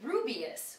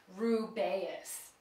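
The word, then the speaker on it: Rubeus: ruus Hagrid it looks like it would be rubius which is how I always pronounced it but it's actually intended to be said rubas next minurva mogal jinny Weasley I've heard people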